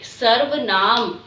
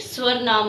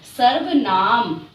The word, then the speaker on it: सर्वनाम: सुनाई दे रही है तो कैसे बोलोगे सर्व नाम कई बच्चे इसमें बहुत ज्यादा मिस्टेक करते हैं कि इसे स्वर्ण नाम बोलते हैं जो कि रोल है ठीक है तो आपको इसका उच्चारण कैसे करना है सर्व नाम ठीक है आलिया